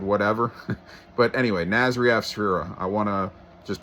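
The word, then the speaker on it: Nasry Asfura: The president of Honduras, Nasri Afsfura, is the correct pronunciation.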